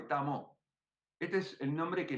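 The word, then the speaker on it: 達摩: La D es como una T suave, Tamo.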